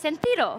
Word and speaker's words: Sentryo: I pronounce it correctly because it's a French one, so it's Sentryo. Is that correct? Correct. Thank you. So I'm joined by three guests. I'm joined by Samuel, Thierry, and Laurent from Sentryo.